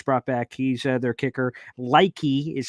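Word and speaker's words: Leki: Likey is how you pronounce that.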